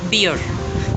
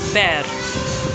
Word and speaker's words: bear: It rhymes with air.